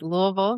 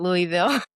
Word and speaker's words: Louisville: It's Louisville, not Louisville.